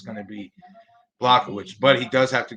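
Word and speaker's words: Błachowicz: You say Blachowicz then.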